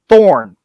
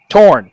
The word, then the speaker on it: Torn: the agent played by rip thorn torn sorry i bet i always forget i pronounced his last name damn it the old guy riptorn torn thank you i don't know i don't know why i put an h in there when i look at